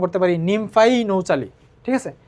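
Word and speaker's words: Nymphaea nouchali: তারপরে আসো শাপলা, শাপলাকে আমরা উচ্চারণ করতে পারি নিমফাই নৌচালি, ঠিক আছে? নিমফাই নৌচালি।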